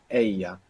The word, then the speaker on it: ella: And the word for she is ella. Ella. Ella. Now this is spelled E-L-L-A. Double L in Spanish is pronounced yo.